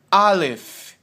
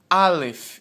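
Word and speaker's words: אלף: ok então essa primeira letra é a letra Alef Alef enquanto você me ouve eu peço que você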